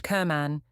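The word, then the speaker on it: Cerman: we all knew her her name was Gail Surman pronounced Kerman and she was an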